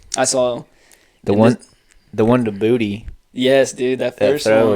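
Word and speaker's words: Boutte: His name's said 3 different ways, so I don't know how to say it. It's Booty. Keyshawn.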